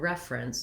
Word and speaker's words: reference: syllable and then i'm very short and reduced on the second syllable prince friends i almost go right from that r into an n with no vowel at all the c e sound says letter says the ce letters say the sound s that s makes and once i can